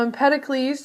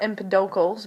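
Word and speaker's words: Empedocles: a Greek philosopher named Impeticles and then we're going to discuss how the atom has evolved all the way through someone that you've heard of known as John Dalton. Now impeticles, it's not empidals, but empeted can sometimes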